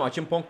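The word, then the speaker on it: Acheampong: Achimpong diye okunuyormuş.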